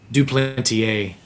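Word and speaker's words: Duplantier: I never pronounced that. Is it dupantier or dupantier? Duplanteier.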